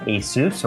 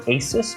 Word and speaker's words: Asus: This is from Asus or Asus, depending on however you would like to pronounce that, because that's still a big debate going on.